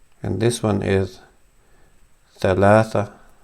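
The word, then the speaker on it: ثلاثة: And this one is Thalatha. This is an H. So Thalatha.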